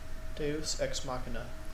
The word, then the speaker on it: deus ex machina: to ex machina or whatever it's called I pronounce it deus ex machina deus ex ex machina definition of that is